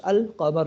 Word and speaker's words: القمر: کے ساتھ، اے جی القمر، the moon is pronounced القمر، یہاں پر دیکھیں نام پڑھا گیا ہے۔ Here